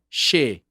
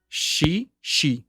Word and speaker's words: she: She. Outra coisa que eu já aprendi sobre a pronúncia. O S tem som de sh, sh, sh. Na maioria das vezes. She.